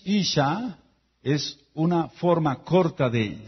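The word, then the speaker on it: אשה: Y mujer es Isha, Isha. I-S-H-A. Y se escribe con una Hei.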